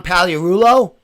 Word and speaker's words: Pagliarulo: Pagliarulo?